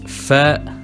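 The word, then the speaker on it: فاء: Then we have Fa, like a normal F, for example, Fatura, which means a bill.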